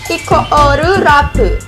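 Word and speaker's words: イコールラブ: Nama grupnya itu Equal Love, atau kalau bahasa Jepangnya biasanya bacanya Ikoru Rabu.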